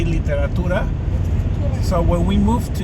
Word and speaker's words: literatura: so the word literature in Spanish, it's spelled basically the same, but we say literatura.